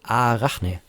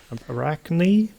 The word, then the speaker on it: Arachne: their new CURA slicing engine called Arachne, like spider. Arachne? Arachne, to pronounce it the American way. Arachne. Yeah. Arachne. I'll call it Arachne.